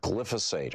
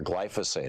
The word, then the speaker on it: glyphosate: with troubling levels of glyphosate or glyphosate I've heard it pronounced both ways that is the the